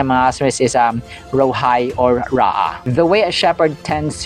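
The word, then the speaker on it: רֹעִי: And then next name ng ating Diyos ay Yahweh Rohai or Ra'ah. Okay, Ra'ah. So that is how it is pronounced, mga kasembreros.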